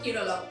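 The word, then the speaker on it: കേരളം: পাক থাকছে কেরলের সরকারি ভাষা মালয়েলাম এবং সেই ভাষায় রাজ্যের নাম উচ্চারণ হয় কেরলম এবার এই প্রস্তাব নিয়ে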